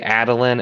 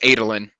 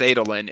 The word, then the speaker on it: Adolin: up my pronunciations because i say adeline and i'm not sorry for it it's adolin it's not you monster okay it's literally no because it's michael michael kramer says it's adolen it's italy well even